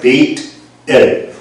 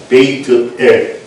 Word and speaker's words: 베이트엘: 보면서 거기다 돌단을 쌓으면서 거기 이름을 베이트엘, 우리는 보통 베델 그럽니다만은 히브리어로 정확히 발음하면 베이트엘 해보실래요? 베이트엘.